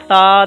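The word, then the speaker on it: ث: about this letter so the point of pronunciation of this letter is by touching tip of the tongue with the edges of your upper front two teeth in the previous lecture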